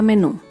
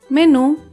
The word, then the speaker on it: menú: Por ejemplo, la palabra menú. Menú se acentúa en la última sílaba, menú.